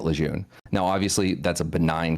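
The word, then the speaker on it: Lejeune: it's kind of like Camp Lun was like formerly renamed to Camp Leger cuz the family said that's the proper way to pronounce it. But Marines were like, "No, that. We've always known it as Ljun. We're going to keep calling it Lun."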